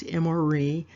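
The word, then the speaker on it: אֱמֹרִי: Again, it's pronounced Emori, and it's identified as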